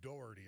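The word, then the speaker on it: Dougherty: lunatics, WCT, Donahghue, and Dockerty. We spell it, we call it Doherty around here, but Dockerty, uh Johnny Doc, the uh electrical union political kingpin from Philly, that's his brother.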